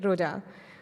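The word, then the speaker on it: Roja: of the slide sorry Roa yeah you're right Roa yeah and I can take the other example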